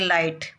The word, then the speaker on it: light: जैसे हम इंग्लिश में बोलते हैं लाइट, तो लाइट में LIGHT लिखा जाता है, तो इसमें जो G और H अपन लिखते हैं, G और H लिखते हैं, ये उच्चारण में नहीं आता।